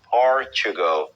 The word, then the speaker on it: Portugal: Portugal é a pronúncia em inglês.